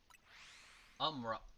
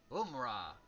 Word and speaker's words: Umrah: You've told me it's pronounced exactly the way it looks. Now tell me I'm telling saying it wrong. I that is okay. Umra Umra or Umrah.